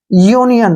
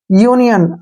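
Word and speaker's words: union: vowel ठीक है ना तो यहां पर यू का उच्चारण यू करेंगे ध्यान रखना है यू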